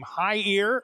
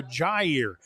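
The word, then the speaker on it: Jair: the lead to 2714 I'm honestly not sure if the young man pronounces his name High ear the first name or Jer it's j a iir but it's Hernandez and if you use the Spanish pronunciation I think it would be high ear his kick is fielded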